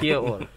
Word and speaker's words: Kia ora: Kia ora. Kia ora. Y'all hear it. It's spelled like Kia.